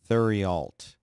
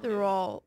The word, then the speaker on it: Theriault: Spell it. Theriault. Thurialt. That's your name. Thuralt. Yeah. Thuralt. That's how I'm going with Thuralt.